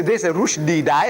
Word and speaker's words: Rushdie: And Rushdie, see, Rushdie should be spelled rightly the way we pronounce. Rushdie, R-O-O-S-H. Rush. D-E-E-D. Rushdie. But no, you see the father anglicized the name. R-U-S-H. Rush. D-I-E. What is D-I-E? Die. Rush. Die. Die.